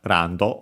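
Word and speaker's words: ランド: Should be accented just like in English, on the first, on the ra, and it is. Yeah, again, notice the L that becomes Japanese R, the additional O for the do.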